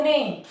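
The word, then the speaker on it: know: एन के पूर्व के साइलेंट रहता है, जैसे के एन ओ डब्ल्यू, नो, क्या बोलेंगे इसको? नो।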